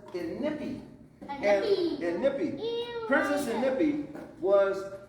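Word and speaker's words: Inikpi: She is Princess Inipi. Let me hear you say it. Princess Inipi. Now, it's spelled really funny. It's spelled I-N-I-K-P-I. And a lot of people want to say Inipi, but it's Inipi.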